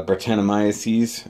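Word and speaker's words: Brettanomyces: yep that is a bit sour Brett or Bart annamaya sees as it's pretty much pronounced it's a type of yeast agent sour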